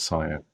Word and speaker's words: Sian: an EastEnders actress by the name of Cyan Blake, spelt Sian, but she used to pronounce it Cyan, and she was murdered along with her two boys and buried in the garden by her husband.